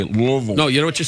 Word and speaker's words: Louisville: You don't say it Louisville, you say it Louisville.